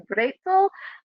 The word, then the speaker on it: Brezel: One is, as we Americans pronounce, pretzel, or maybe in German closer to Brezel.